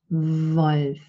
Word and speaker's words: Wolf: But Standard German pronounces this letter like this letter in English, and it's also the symbol that you use. So Wolf, it's a voice. This letter represents a voiced labiodental fricative.